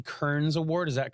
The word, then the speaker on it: Kearns: that earned him the prestigious, and help me pronounce this right, Robert E. Kearns Award. Is that correct? Yes, the Robert E. Kearns.